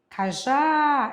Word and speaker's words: cajá: Quando diz cajá, cajá ela é oxítona terminada em a.